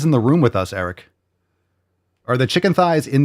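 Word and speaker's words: Airik: Eric? Are you telling me you're supposed to pronounce that Eric? Oh man, your mom just wanted to be so different, didn't she? Eric. It's A-I-R-I-K.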